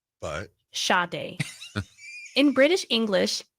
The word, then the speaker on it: Sade: In American English, her first name is usually pronounced as Sade. Sade. But? Sade.